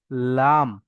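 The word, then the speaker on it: ل: আমরা জিভের সাইডে পড়েছি না, ওটা কিনারা, এবার জিভের আগার একদম সামনে, ওই আগার কিনারা এবং সামনের উপরের দুই দাঁত, সামনের উপরে যে দুই দাঁত দেখতে পাচ্ছেন, উপরের দুই দাঁত, ওই দাঁতের গোড়ার সঙ্গে লাগিয়ে উচ্চারণ হবে লাম, লাম।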